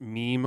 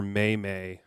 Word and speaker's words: meme: I start my friend asked me whether it's pronounced meme or mayay how old was this friend Matt you know